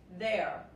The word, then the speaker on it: their: Personas y cosas, their. ¿Y saben una cosa? Se pronuncia igual que ellos son.